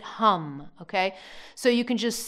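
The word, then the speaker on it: ham: It's pronounced H-A-M, that's the Bija of the throat chakra, but you pronounce it hum, okay?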